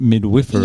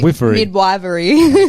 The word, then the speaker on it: midwifery: But studied midwifery. Yes, I did, yeah. Yeah. I actually put that in Google to see how to pronounce it. Lots of people say midwifery.